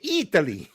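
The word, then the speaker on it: Eataly: It's spelled like E-A-T. Yeah. Oh, E-A-T. Oh boy. You have to say it Italy.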